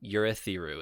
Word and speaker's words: Urithiru: If I remember correct, it's Urithiru. Urithiru is how they say it. Urithiru. I'm a Thiru. Mm-hmm. All of them. Yep. I had Yurethiru, but I'm guessing there's